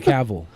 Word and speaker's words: Cavill: Henry Cavill.